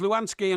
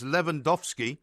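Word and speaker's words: Lewandowski: I'm sorry it was Lansky and cavan of PSG no incorrect it's levandowski yeah and Cavani yeah so you got that wrong hang on no you you pronounced them wrong rubbish that is Alter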